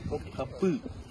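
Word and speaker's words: Topkapı: Bukan T, Topkapi. Kalau atasnya huruf G ada titik I. Ini tapi tanpa kecuali titik. Bacanya Topkapi. Top artinya meriam.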